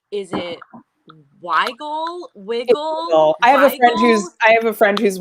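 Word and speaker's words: Wigle: i highly recommend yes it's actually pronounced wiggle whiskey but it's only one g w-i-g-s e okay we've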